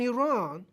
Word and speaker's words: Iran: at the same time or even Russia and Iran if I was the king of the day